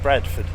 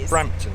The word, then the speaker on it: Brampton: gober moorings at brampton i keep saying it wrong keep calling it bradford yeah no branford branford brampton if debbie's right i will do an apology on screen but i think that is brampton brampton oh have i